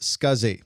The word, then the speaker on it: SCSI: The abbreviation SCSI is pronounced SCSI and this stands for small computer systems interface.